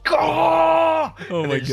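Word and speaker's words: Scáthach: They're like, it's pronounced Scahah.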